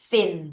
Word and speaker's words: thin: 자, th 발음해야죠. thin 하면 마른 또는 날씬한 이런 말이죠.